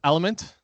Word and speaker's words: LMNT: The next one is Element. I called them LMNT when I call them up to the stage. You'll see this in the thing, but they pronounce it Element, and they do text to speech.